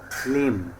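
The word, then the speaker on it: limb: এল আই এমবি লিম। এখানে এম এর পরে বি লেটারটি সাইলেন্ট থাকবে।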